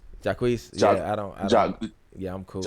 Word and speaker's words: Jacquees: I ain't gonna like if I'm gonna be honest, the Jacquees version was mid.